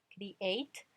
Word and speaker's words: create: Y ahí tenemos el verbo número 9 que es create, create. Si notan, termina en ese verbo escrito, pero cuando yo lo pronuncio, create, termina en T, create.